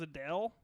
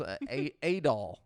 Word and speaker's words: Adol: You say his name was Adele? Adul. Oh. There's Adol. I thought we were just setting fire to the rain over And once again, we have a Hitler reference here. It's Adolf without the F.